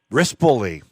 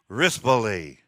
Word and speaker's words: Rispoli: full draw with umberto how do you say his last name felix wrist bully there you go not not rispoli it's just you know